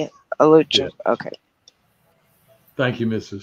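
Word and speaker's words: Alachua: Alucha.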